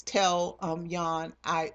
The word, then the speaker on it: Jan: always been had always called Jan um Yan that's how you say it um but it's j an that's how it's spelled um mister mister and even when they met um Yan was like look look